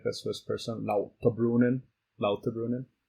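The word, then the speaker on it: Lauterbrunnen: want to say it like the Swiss person la brunin la brunin it's like vengan steckelberg um this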